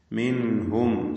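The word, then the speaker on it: منهم: മിൻഹും സാക്കിൻത നൂനിനെ ഇൽഹാർ ഹൽക്കി നൽകി മണിക്കാതെ വെളിവാക്കേണ്ടതാണ്.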